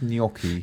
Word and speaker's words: gnocchi: Yeah, and he's asked what's gnocchi or gnocchi? It's pronounced gnocchi.